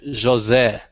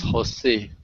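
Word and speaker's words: José: this one if then if the name is in Portuguese is pronounced Josie okay if he is in in Spanish is Jose okay joe said just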